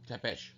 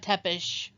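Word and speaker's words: Țepeș: Tepesh. Vlad Tepish. There's actually multiple spellings and pronunciations of the name, depending on which language you're saying it in.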